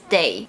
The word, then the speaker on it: 得: For instance, 得到, 得到, 获得, 获得, and it's pronounced as day when it means have to, must, or need to.